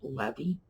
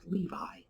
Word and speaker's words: Levy: parts of the country in the northeast you're much more likely to hear it pronounced levy and in the west you're much more likely to hear pronounced levi so i'm going to